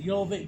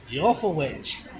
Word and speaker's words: Jorvik: We're here at Jorvik Viking Centre with this fine gentleman.